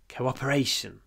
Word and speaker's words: cooperation: key to our success cooperation here the stresses on the Cooper fourth syllable cooperation Coop Co-op Co-op cooperation but don't forget the W it's important cooperation cooperation The Key